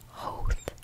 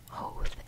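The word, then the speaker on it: Howth: I was told by an Irish guy that it's pronounced Hoth, Hoth, H-O-W-T-H, H, I guess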